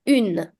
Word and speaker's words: un: Now, make sure you pay attention to this because it's very common for people to mistake the pronunciation between these two. People have a tendency of saying une with this, but no, this is un, and the feminine version of the article is pronounced as une.